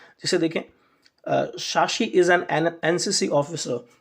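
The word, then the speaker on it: NCC: जिसे देखें शशि इस एनसीसी ऑफिसर तो एनसीसी ध्यान रखें एनसीसी तो एन का जब हम उच्चारण करेंगे तो ए से शुरुआत होती है ए जो की हिंदी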